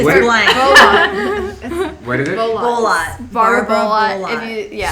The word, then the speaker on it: Bolotte: Bolot. Barbara Bullock. Bullock. If you Spell that for the listeners.